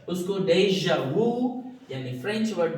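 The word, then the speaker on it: déjà vu: Next जो word है बड़ा इंटरेस्टिंग है स्टूडेंट, ये है डेजा, डेजा वू, डेजा वू। तो आप देख रहे हो इसका प्रोनाउंसिएशन किस लैंग्वेज से लिया गया है, फ्रेंच।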